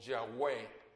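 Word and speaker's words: Yahweh: vano ahora por supuesto el nombre ya ve a yagüe es la manera correcta de pronunciar el nombre que todo el mundo menciona como jehová porque así viene en la traducción más común de la biblia que tenemos en méxico entonces cuando hablan de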